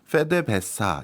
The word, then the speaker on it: PDVSA: 제일 많이 보이는 간판이 pdvsa 그나라 현지 발음으로 하면 페데 베사 이렇게 부르거든요 그러니까 쉽게 얘기해서 베네수엘라